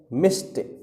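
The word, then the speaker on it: मिष्ट: मिठाई का तत्सम है मिस्ट मि ठीक है ठ नहीं है टा है ध्यान रखिएगा उच्चारण पर विशेष ध्यान दे फिर है मुआ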